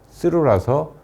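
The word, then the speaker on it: 鶴: 그리고 김학렬 선생은 이름의 학자의 일본식 발음이 쓰루라서 그렇게 불렸다고 합니다.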